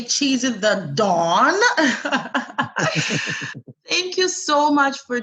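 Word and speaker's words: Chizzy tha Don: Cheesy the Dawn is well pronounced.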